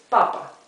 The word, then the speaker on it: papa: That indicates us that the accent is in the first syllable. It's papa.